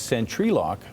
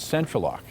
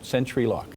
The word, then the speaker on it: Sentry Lock: And by the way, one big thing is it's Sentry Lock, not Central Lock, which is something a lot of people don't understand, but apparently that's the right way to say it, Sentry Lock.